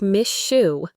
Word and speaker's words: miss you: So miss you sounds like miss shoe.